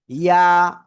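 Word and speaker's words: ي: ইয়া। কোন জায়গাতে উচ্চারিত হবে? ওই যে জিহ্বার মধ্যখান, উপরে তালুর সাথে লাগাবো, লাগিয়ে সিম্পল একালিফ টেনে উচ্চারণ করব। লেগিয়ে ছেড়ে, লাগিয়ে ছাড়িয়ে ছেড়ে দেবো আমরা। ইয়া ইয়া ইয়া।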